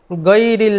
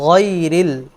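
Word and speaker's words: غَيْرِ: গৈরিল মাগদুবি আলাইহিম, অনেকে পড়েন বাংলা ভাষায় যে গ বর্ণ আছে, গ বর্ণ দিয়ে, এটি মারাত্মক ভুল। এটির সাথে উচ্চারণ আরবি গাইন হারফের উচ্চারণ কোনোভাবেই মিলে না। আরবি হারফের উচ্চারণ হচ্ছে গাইরিল, কণ্ঠনালীর শেষের অংশ থেকে গাইরিল, গ, গাইরিল মাগদুবি, মাগদুবি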